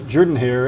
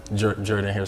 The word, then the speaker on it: Jordan-Hare: Yes, How did you know that it was Jordan-Hare and not pronounced the way it is spelled?